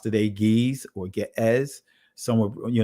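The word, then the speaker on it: Ge'ez: and if you understand got eyes which is pronounced today geez or get es someone you know pronounce it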